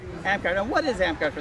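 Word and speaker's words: Amtgard: and you're with a group how do you pronounce it ampgard ampgard and what is ampgard for those ampgard is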